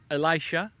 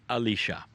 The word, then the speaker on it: Elisha: And that man has a name, and it's pronounced many ways. In some cultures it is Elisha, in some it is Elisha.